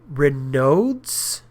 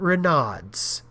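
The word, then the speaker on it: Raynaud's: It's pronounced Renodes, not Renods.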